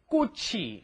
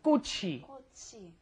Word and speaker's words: 꽃이: Make sure your pronunciation is 꽃이, right? The chi moves up in front of the e, and that's a hard 기억 on there, right? Try repeating that one. 꽃이.